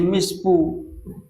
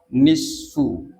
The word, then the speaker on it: nisfu: Cuma kadang-kadang ada pengucapan yang salah, Pak. Kenapa jadi mispu ada enggak gitu? Kenapa belanja mau gesan mispu? Misfuan acara misfu. Misfu yang benar adalah nisfu.